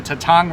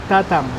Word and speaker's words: Tatang: in North Hollywood to Tatang restaurant in order so that you can get this feast. You pronounce it Tatang. Tatang. Tatang.